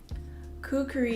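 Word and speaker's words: kukri: Kukuri is how I say it, but there's definitely a lot of people who say it and spell it differently.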